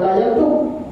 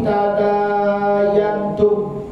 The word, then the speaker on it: tadayantum: Coba kalau huruf ini tambah dulu, tadayantum. bukan dayantum ya, bukan dintum, tapi tadayantum.